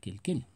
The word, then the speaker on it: quel: La pronunciación va a ser igual para todos, inclusive para el plural, quel.